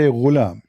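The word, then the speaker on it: غلام: Al-ghulam بضم الغين, which mean you say ghulam. It's saying you how to say it.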